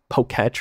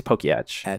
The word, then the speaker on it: Poketch: Well, it's supposed to be a watch, so it can't be tech. Oh. And it's ETCH, so I think it's Pokeyetch.